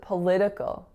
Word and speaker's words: political: word is political political notice that first syllable is not political with an o sound it is another you guessed it it's another schw so it's p Li and then another and then another one political our next word is